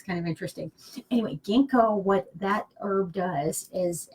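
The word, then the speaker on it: ginkgo: than it was there's there's another letter and they're the silent G so anyway it's kind of interesting anyway gingko what that herb does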